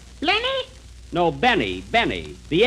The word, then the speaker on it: Benny: Jack Blenny? Blenny? No, Benny. The L is silent in there.